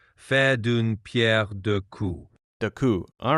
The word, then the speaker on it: faire d'une pierre deux coups: For pronunciation, it would be something like faire d'une pierre deux coups.